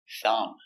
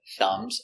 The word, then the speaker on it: thumb: Silent B. Thumb. This is my thumb. My thumb hurts. If something is good, you can say thumbs up. Thumbs up. Pronunciation, thumb. Make a little air. Very soft.